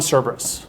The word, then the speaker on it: Cerberus: So, creature feature is on Cerberus, or Kerberos. It's that hard C, soft C kind of thing again.